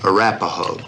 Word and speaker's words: Arapahoe: Arapahoe.